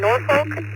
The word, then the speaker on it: Norfolk: Uh yeah, over on the east coast you guys pronounce the L.